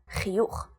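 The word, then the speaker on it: חיוך: When it comes at the end of the word, like chiyuch, the word for smile, it's always pronounced ch.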